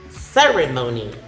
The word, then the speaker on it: ceremony: Okay, next we have ceremony. Ceremony. So the stress is in the first syllable.